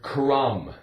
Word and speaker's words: crumb: How about the word crumb? C-R, crumb. with a silent B. Again, we have like in numb, but crumb.